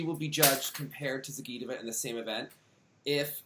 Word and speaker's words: Zagitova: I always call it Zagitova, but I don't think that you. So the emphasis. I think that Zagitova, like the emphasis on the GI.